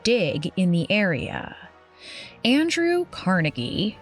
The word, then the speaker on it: Carnegie: Andrew Carnegie, whose Scottish name was originally pronounced Carnegie, hoped to acquire a